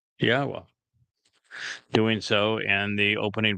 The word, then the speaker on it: Yahweh: It's a significant accomplishment, since I painstakingly explain how one can prove that it is in fact pronounced Yahweh, doing so in the